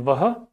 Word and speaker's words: वह: The third person singular subject pronoun in Hindi is yah and vah. They are commonly pronounced as ye and wo.